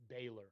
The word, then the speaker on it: Balor: Everybody gets on me on on YouTube for this Is It Baylor or Baylor? Baylor. Okay. Okay. That's what we're going to go with.